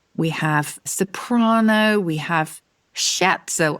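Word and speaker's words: scherzo: have soprano we have shatzel I'm not sure if it's shatzel or sko actually sko I'd say sko in English very good so um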